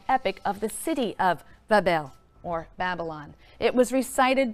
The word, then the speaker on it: Babel: magnificent Shrine or temple in Babylon pronounced Babel which simply means Gateway of the